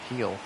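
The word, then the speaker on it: Gil: 46th pitch for Luis Hill heel is how they pronounce him and ripped Ramirez can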